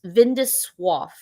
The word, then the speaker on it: vin de soif: Another term that is used kind of in conjunction with glue glue is vin de soif, which is wines for thirst. And I pulled up the pronunciation of this because I thought I was going to kind of mess it up.